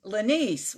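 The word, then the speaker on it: Lenese: before what it's lenny spell it for me please darling l-e-n-e-s-e oh laniece what a pretty name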